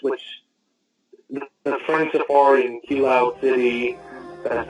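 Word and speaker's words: Kiloude City: instead of just, which the Friend Safari in Kilo City, that's how you pronounce it, that is not really an after game, it needs a better after game.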